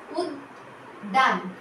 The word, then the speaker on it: উদ্যান: তারপরে শব্দটি হর্ষ দয় জফলা আকার দন্তান, উদ্যান, উদ্যান, উদ্যান। দুইবার দ আসছে।